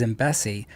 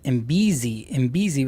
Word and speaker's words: Imbesi: So my last name is Imbesi, but somehow someone was pronouncing it Imbezi, like as if there was a Z on it.